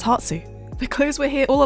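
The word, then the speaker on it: 発: know one last thing the kanji for departure is literally pronounced as hatsu the clothes were here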